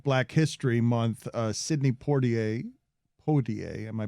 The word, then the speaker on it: Poitier: entirety of my life i call him poor ta right it's my father's favorite actor but i don't think i'm pronouncing his name right pottier i think sydney pattier